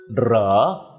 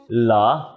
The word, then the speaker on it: เหรอ: Although spelt with ร, keep in mind that it’s NEVER pronounced เหรอ but ALWAYS เหลอ with the ล sound.